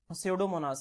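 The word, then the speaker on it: Pseudomonas: है सडोमोनास क्या है सडोमोनास यहां पे पी साइलेंट हो जाएगा तो सडोमोनास बच्चों उसके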